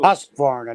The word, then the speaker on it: Husqvarna: They actually tell you how to pronounce it. Yeah. Husqvarna. Yeah. That too. Husqvarna, not Hoos.